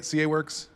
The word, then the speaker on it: CAWORKS: CAWORKS?